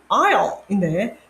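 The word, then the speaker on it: aisle: 근데 사실 이제 이거의 발음은 아일이거든요. 그래서 학생들이 아무리 리스닝을 해도 귀가 안 뚫리는 거예요. 왜냐면 발음을 잘못 알고 있으니까. 이거 발음은 아일인데 자기는 대부분의 학생들이 에이슬이나 아이슬을 알고 있어요.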